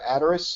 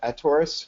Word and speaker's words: Attores: my name is we are a tourist sometimes pronounced a taurus we're still trying to figure out the best pronunciation for the company we're doing smart contracts